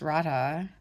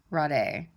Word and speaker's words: Radha: studying about the goddess Rada Rada Rod a I think you can pronounce it either but I'm I'm I